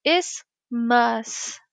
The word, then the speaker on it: isthmus: So we see isthmus is how you say that. So that TH is actually silent.